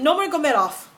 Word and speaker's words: Nurmagomedov: Tim's last name is so hard for me to pronounce, and I don't know why. I don't know why. I can say Khabib Nurmagomedov, and that's how you say his name.